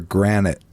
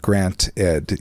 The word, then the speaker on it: granted: I sometimes notice people say take for granite like the stone not a t not not Grant Ed yes which I'm sloppy